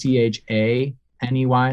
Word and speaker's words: Chaney: The last name is Chaney, like Lon Chaney. For anyone, maybe I'm old. For anyone, silent film acting. It's not spelled like Dick Cheney. It's like Lon.